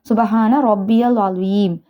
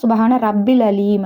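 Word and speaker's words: سبحان ربي العظيم: அதுல ருக்குல என்ன ஓதணும் சுபஹான ரப்பியல் அலீம். இத வந்து சில பேர்ட செய்ற மிஸ்டேக்ஸ் என்னன்னா சுபஹான ரப்பில் அலீம் அப்படின்னு சொல்லிடுவாங்க. சுபஹான ரப்பியல் அலிம் அப்படிங்கறதுதான் சரியான உச்சரிப்பு.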